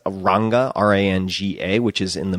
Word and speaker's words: Rangá: And we stayed at this place called Hotel, I think they pronounce it Rangá, but it's Ranga, R-A-N-G-A, which is in the middle of nowhere.